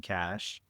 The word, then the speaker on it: Kash: I think they say it Cash.